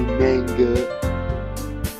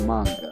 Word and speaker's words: manga: I don't say manga. It's manga.